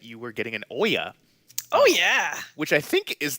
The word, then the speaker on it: Ouya: Last time we talked, you mentioned that you were getting an Oya, Oh yeah, which I think is how that's pronounced. Is that how I you would pronounce that? I pronounce it ouya Ouya.